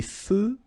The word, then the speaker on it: feux: Des feux de circulation. So here, final X not pronounced.